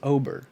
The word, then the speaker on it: Oberg: his last name is Oberg it's written Oh BER it's pronounced Ober if you saw OB